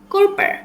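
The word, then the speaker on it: Körper: আমার সাথে সাথে প্রোনাউন্সিয়েশনগুলো বলার চেষ্টা করবেন। গ্যাজুন্ডহাইট মানে স্বাস্থ্য। কোরপার মানে শরীর।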